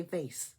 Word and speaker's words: vase: We say vase. I know Americans say vase, but you know, you know what I'm trying to say.